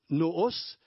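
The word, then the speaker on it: νοῦς: L'intelligence normale se prononce noos en grec, et là, il a employé le mot dianoia.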